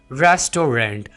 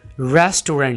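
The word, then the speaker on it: restaurant: भी किया जाता है इस वर्ड को बोला जाता है रेस्टोरेंट हालांकि यह वाला वर्ड रेस्टोरेंट नहीं है बल्कि यह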